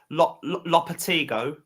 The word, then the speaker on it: Lopetegui: So if anyone knows his name is, I believe his name is pronounced Lopetegui. That's how you pronounce his name.